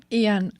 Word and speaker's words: Iyan: So, and how do you say your name? Iyan? Iyan? Ian. Yeah. Okay.